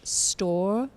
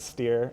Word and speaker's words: Stoehr: I'm gonna guess it's store. That is the common one. Uh I pronounce it steer. It's it's just been German uh Americanized so much over the years.